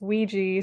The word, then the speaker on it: Ouija: playing with Ouija boards took me a while to figure out how to pronounce that by the way you spell it the o u i g j a um I think it's a creole word if I'm not mistaken I'm actually not even sure but I think it comes from like the Caribbean so I was like how do you pronounce that Ouija Ouija and it turns out it's Ouija so a Ouija board is